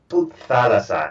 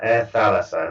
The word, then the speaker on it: Thalassa: Okay, so first of all, the airline that you founded, how do you pronounce that? Thalassa, Air Thalassa.